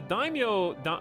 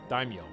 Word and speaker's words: Daimyo: The Daimyo... I'm probably pronouncing it wrong.